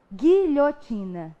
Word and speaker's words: guilhotina: um fonema foi pronunciado, porque o U não produziu som.